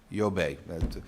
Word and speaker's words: Yobe: effective States Borno and yobi I said that am I pronouncing that correctly good Yobe I'm from Massachusetts I